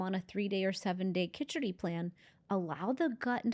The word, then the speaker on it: khichdi: We like the Khichdi diet in Ayurveda. You can pronounce it Khichari. Some people say it that way. I like it with the D, Khichdi.